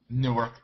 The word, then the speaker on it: Newark: hang out in newk Newark actually I went to school in Newark Delaware spelled like Newark but Newark new ark Del don't know how